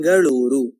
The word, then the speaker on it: Bengaluru: Tiếng Bengaluru ji han nghe bạn nói đúng đấy, nó được phát âm như thế này trong tiếng Kannada.